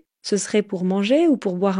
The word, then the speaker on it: ce serait: » Ce serait donc ce serait. Vous allez voir, quand on parle vite, on ne prononce pas toujours toutes les syllabes.